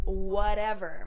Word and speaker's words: whatever: important to them is whatever. You can also pronounce this whatever, making the T into a D.